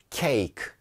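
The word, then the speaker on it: cake: 여기 등장하는 이들은 요 발음이 되지 않습니다 발음 되지 않는 묵음 입니다 바른 되지 않는걸 우리가 묵음 이라고 하죠 같은 말입니다 발음이 되지 않는 아이 2 그래서 케이크 인데요 만약에 이거 발음 됐더라 면 kt 나 아 케잌에 가 되었겠죠 그런데 그렇게 부르지 않고 그냥 케이크 하고 끝내 버리자 나요 그러니까 일을 그냥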